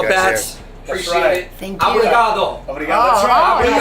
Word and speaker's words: obrigado: Obrigado.